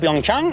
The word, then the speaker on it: Pyeongchang: ¿Se pronuncia sí. Pyeongchang o es mal mi coreano?